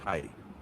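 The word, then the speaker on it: はい: In Japanese, yes is hi. Try it. Say hi. Hi. Nice. That sounded clear. Next, do you want no? No, how we pronounce hi, like yes. hmm Like hi? It's say hi. Can you tell me it again? Hi. Does it hi? Yes, hi. H-A-I. E- EJI. No. H-A-I.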